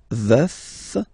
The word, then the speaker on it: veuf: Je suis veuf, veuf, so remember to pronounce the final F, veuf.